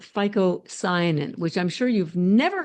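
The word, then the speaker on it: phycocyanin: chlorophyll and the blue one which is called FICO cyanin which I'm sure you've never heard of before and I'm going to spell it for you write this down because I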